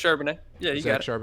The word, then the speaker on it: Charbonnet: pronounced? Charbonnet. Yeah, you Zach got it. Charbonnet.